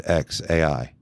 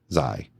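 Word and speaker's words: X Æ A-12: It's just X, like the letter X, and then AI, like how you would say the letter A and then I. So his name is XAI. Zai.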